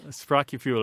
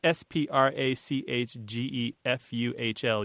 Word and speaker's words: Sprachgefühl: And then there's the German word, and pardon me if my German pronunciation isn't very good. Martha, you know this one, right? Sprachgefühl or something. It's Sprachgefuhl, usually with the double dots over the U.